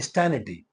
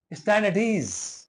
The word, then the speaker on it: stand at ease: वो wrong pronunciation ही यूज करते हैं, बोलते हैं स्टैनिटी। इट्स नॉट स्टैनिटी, इट्स स्टैंड एट ईज। स्टैंड एट ईज।